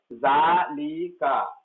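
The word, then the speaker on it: ذلك: Note, zalika is pronounced as zalika, zalika, but it is written without alif. It is pronounced with alif but written without alif.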